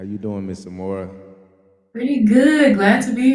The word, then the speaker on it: Amora: So Amora, am I saying it right? Yeah. Everybody say what's up to the beautiful Amora.